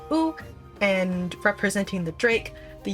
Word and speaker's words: U: The U tribe was the first Miqo’te Seeker of the Sun tribe that we got to visit. Pronounced Ooh and representing the Drake,